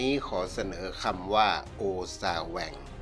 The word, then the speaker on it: โอซาแวง: ขอ เสนอ คำ ว่า โอซ่า แหว่ง เขียน สระ โอ ออ อ่าง ซ โซ่ สระ อา สระ แอ ว แหวน งู อ่าน ว่า โอซาแหว่ง หมาย ถึง หวาด ระแวง